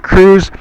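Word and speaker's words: Kruse: by uh typing in Dr. Jack Cruz. However, Cruz is spelled K R U S E.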